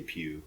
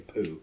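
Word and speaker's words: Pugh: pronounce her last name I say Pew p g saying poo I was like I don't think that's right but her uh Dave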